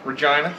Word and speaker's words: Regina: Regina, town that names and rhymes with fun.